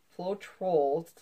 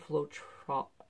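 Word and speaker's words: Floetrol: flow control flow control flow troll that's how you pronounce it flow troll I keep hearing everybody else pronounce it differently that's not how you pronounce it I'm sure the manufacturer means flow troll not flow trop whatever they need faces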